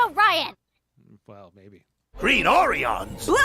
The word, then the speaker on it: Orion: exactly where's that uh it's pronounced and it's pronounced Orion well maybe green orans